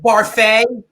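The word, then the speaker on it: Barfée: That's pronounced Barfee. It's Barfee with an accent aigu.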